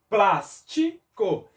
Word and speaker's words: plástico: separei aqui as sílabas plástico me respondam Qual é a sílaba que nós pronunciamos com maior intensidade e quem falou Plus acertou plástico aqui nós escutamos